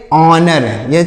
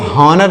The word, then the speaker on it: honour: HONOUR, तो इसे क्या पढ़ेंगे, ऑनर। HONOUR, ऑनर मतलब क्या होता है, ऑनर मतलब होता है सम्मान। ऑनर मतलब क्या होता है प्यारे मित्रों, सम्मान। इसको हॉनर नहीं पढ़ेंगे हम, यहाँ पर एच साइलेंट है, इसको ऑनर पढ़ेंगे ना